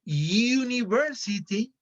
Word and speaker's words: university: in the case of university they don't the u doesn't sound like a vowel it sounds like a consonant like the y university so that is